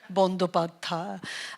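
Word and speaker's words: Bandyopadhyay: Yeah, well, I need to start with, Banerjee is not my real name. It's a name that was given to us by the British because they couldn't be bothered to pronounce the actual name, Bandhopadhyay.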